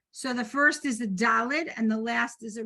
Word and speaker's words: Daled: This is a Daled, pronounced duh, right?